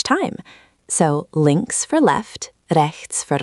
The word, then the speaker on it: rechts: This one has that tricky ch sound. Remember, it's like the ch in lach or the end of bach. It's a soft, guttural sound from the back of your throat, not a K sound.